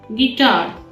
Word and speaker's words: guitar: Here the I is silent. Guitar.